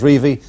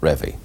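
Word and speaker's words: Revie: you might say that Don Revy likes to be known as Rey and not Revy testimonial games we got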